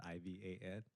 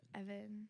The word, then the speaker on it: Ivan: It's spelled I-V-A-N. Damn. Wow. Are you sure it's not like Ivan or something? Ivan. Ivan. Ivan is in Evan. Spanish. Evan, dude. Yes. Evan.